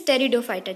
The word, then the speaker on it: Pteridophyta: The pronunciation is Pteridophyta, children.